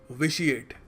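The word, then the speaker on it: vitiate: तरीका भी याद रखना कुछ लोग पता नहीं क्या कुछ और बोल देते हैं विटिएट कह देते हैं इसको it's pronounced विशिएट have it rough have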